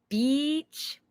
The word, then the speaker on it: beach: beach so I say when you say Beach it's almost like you're smiling you need to really open your mouth there and smile Beach okay the other